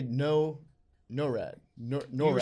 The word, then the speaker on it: NORAD: NORAD. We were saying NORAD. NORAD. It's NORAD. No rad. NORAD. NORAD. Nor, I mean, maybe- nor rad. You Maybe can not, Norad.